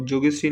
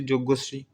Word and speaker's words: যজ্ঞশ্রী: চলো নেক্সট 18 নম্বর কোশ্চেন, সম্প্রতি student internship scheme ও যোগশ্রী নামে প্রকল্প লঞ্চ করলো কোন রাজ্য সরকার? সরি, এটা যোগশ্রী না, এটা হচ্ছে যজ্ঞশ্রী, উচ্চারণ ভুল হয়েছে, সরি।